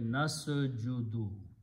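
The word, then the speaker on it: نسجد: So you take this noon and take these three letters, seen, jim, and dal, and you pronounce the same way, nasjudu.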